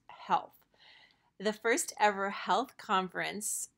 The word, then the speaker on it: HLTH: health conference no it's not HL th it's pronounced health the first ever health conference was a huge